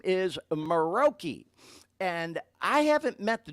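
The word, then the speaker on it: Muroki: And I know Dean's going to put some stuff up in a minute here, but it's spelled M-U-R-O-K-I, Maroki.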